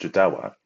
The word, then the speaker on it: Jodawo: is by a Setter whose name Untold is pronounced jadawa the pramster had sent me a message earlier